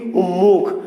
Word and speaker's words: উন্মুখ: অঞ্চলে উচ্চারণ করি কি উন্মুখ। তোমার জন্য আমি একেবারে কি উন্মুখ হয়ে আছি, উন্মুখ। অর্থাৎ এই যে উন্মুখ নয় মটা হয়ে গেল কি ময়ম, শব্দটা ছিল উন্মুখ আর আমরা উচ্চারণ করি কি উন্মুখ।